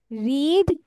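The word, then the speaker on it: read: না ওটাকে কে হার্ড বলে ওভারহার্ড ওভারহার্ড ওকে রিড রিড রিড রেড বলতে হয় রিডের পাস্ট যদিও স্পেলিং সেম কিন্তু উচ্চারণটা আমাদের রেড বলতে হবে ঠিক আছে ওকে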